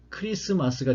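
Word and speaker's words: Christmas: 그러니까 가운데 자음은 T는 생략을 하니까 크리스마스가 되는 것이죠.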